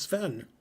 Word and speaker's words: Sven: It's Sven. That rhymes with it's Ben.